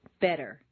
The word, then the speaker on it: better: Just as you don't say the T in listen, the double T in better is pronounced D, better.